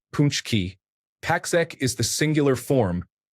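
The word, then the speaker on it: pączki: Paxki is the plural form pronounced punchki.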